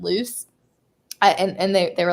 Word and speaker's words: Lucy: they asked me like how to pronounce uh lucy's name and i said loose and they they were